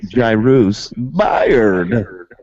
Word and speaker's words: Jairus: good Iris buyered buyer that is how you pronounce jurisburt's name or should I say Jairus one more time I ruse there you have